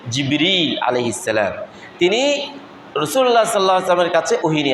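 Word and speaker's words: جبريل: নাম জিবরীল আলাইহিস সালাম আমরা বাংলায় ওকে জিব্রাইল বলি উচ্চারণ হচ্ছে জিবরীল সালাম তিনি রাসূলুল্লাহ সাল্লাল্লাহু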